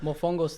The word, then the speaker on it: mofongo: The emphasis is on a different syllable. Contra ca, as opposed to mofongo, right? It's more on the second It's on the second syllable, but you're gonna have to make it work.